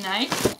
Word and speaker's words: Nike: another bag from Nike we say it's Nike and a lot of Europeans do I know Americans say Nike because that's the correct way of saying it but we're just used to saying Nike so I got a